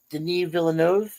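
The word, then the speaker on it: Denis Villeneuve: The uh Den Villanov is how he pronounces it.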